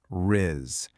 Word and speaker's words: rizz: You really want to emphasize that soft buzzing z sound at the very end.